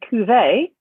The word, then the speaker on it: Cuvée: spell it for you it's and just like a wine glass which i love wine by the way so that's my name and cuvee just like wine a cuvee is c u v